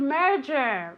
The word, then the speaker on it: merger: Merger. Merger. Very good. I can hear your pronunciation. This is a difficult word to pronounce because you have the J sound, okay?